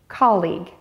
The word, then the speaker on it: colleague: Colleague. It is not pronounced the way that it is spelled. Pay attention to the word's syllables, call and eeg.